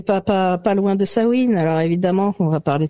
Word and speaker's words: Samhain: c'est pour ça que je dis sawin ce qui à la base c'est un mot gaellque euh qui s'écrit S a M u i n d' sawin et non pas sa main et ouais et alors